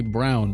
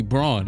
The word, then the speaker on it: Braun: Mayo, Ted Rogers, Christian Braun or Brown. Every time I watch a Nuggets game, they say Brown, but it's clearly Braun.